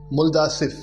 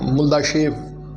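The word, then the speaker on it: Мулдашев: 1999 में एक Russian researcher थे, अर्नेस्ट मुल्दासेव, वहाँ का प्रोनाउंसिएशन मुल्दाशेव बोला जाता है।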